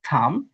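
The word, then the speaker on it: thumb: এবি উচ্চারিত হবে না। এটা হবে ল্যাম। এটা হবে। এটা হবে থাম ভম।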